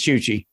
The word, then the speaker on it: Chuchi: last name the uh the choochy part is chuchi rhymes with gucci chuchi's wiki brian mowry